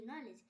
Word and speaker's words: knee: KNOWLEDGE নলেজ। এখানে কে এর উচ্চারণ কেন হচ্ছে না?